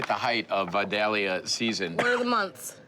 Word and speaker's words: Vidalia: And we're right at the height of Vidalia season, What are the months?